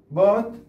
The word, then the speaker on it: bought: إذن لاحظ فقط نضع O U G H T، طبعا G H لا تنطق، لا نقول برقة هيت، إذن حرف صامت. لماذا؟ في اللغة الإنجليزية لا يلفظونها، لذلك إحنا لا نلفظها فقط.